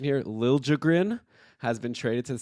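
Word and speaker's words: Liljegren: that uh pronunciation that apparently he wants a harder J sound when people say Lil jrin so now we know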